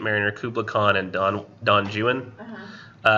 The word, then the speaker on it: Don Juan: Kublai Khan and don don juin which I know it says Don Juan but he pronounced it Jew and it if you